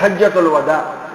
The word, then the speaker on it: حجۃ الوداع: لیے جو ہے تشریف لائے۔ حجۃ الوداع صحیح تلفظ کیا ہے اس کا؟ حجۃ الوداع، اس کو کیا کہتے ہیں؟ حجۃ الوداع۔ اس سال کے موقع پر رسول اللہ صلی